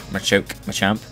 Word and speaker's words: Machamp: Obviously, the fighting types like Machop, Machamp, Machoke, Machamp, that's how you say it.